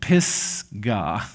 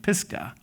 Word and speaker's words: Pisgah: And honestly, you got to just kind of pronounce that pretty accurately, or it could just get into a crass association. Pisgah, okay? Pisgah.